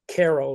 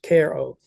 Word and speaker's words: Cairo: Cairo but it's pronounced Koo like a care package Koo and you'll see that